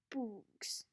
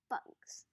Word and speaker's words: bugs: Bugs, he said. Good, said Stanley. Remember, it's a short U if there's no E at the end.